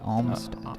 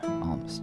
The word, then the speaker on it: Olmsted: Yeah, and it's like almond, kind of. Olmsted. Yeah. Olmsted.